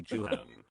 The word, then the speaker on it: Jooheon: jiwen and then lee jooheon like many many people said like j-o-h-e-e-o-n like pronounces like chan so h-e-o-n and the right right pronounces han han like no hundred like hand honey i'm sorry you